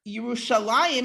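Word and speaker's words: ירושלים: Lord instead um and here yerushalayim is actually spelled yerusha Lynn right rucha Len that was almost certainly the way it was pronounced until later right and so it is vocalized with the later pronunciation um even though and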